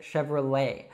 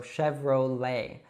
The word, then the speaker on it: Chevrolet: So although this one is American, we pronounce it like as if it were French. So we don't say Chevrolet or something like that. We say Chevrolet. So you should actually just leave off that T sound at the end and pronounce an open E.